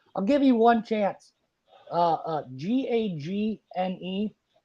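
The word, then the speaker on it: Gagné: But Gagne is actually Gagne. There's a famous wrestler, Vern Gagne. But oh yeah. But I just got sick. Actually, the way teachers used to pronounce it was Gagne, as in gag me.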